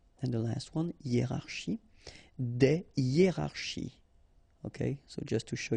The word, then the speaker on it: des hiérarchies: Des hiérarchies.